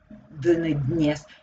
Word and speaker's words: dnes: Dnes. Dnes. So very, very short d. Dnes. It sounds, but very, very lightly.